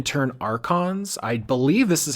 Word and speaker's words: archon: approached by a Hound is it archon is that how you pronounce it yeah archon it's Greek for leader um is what that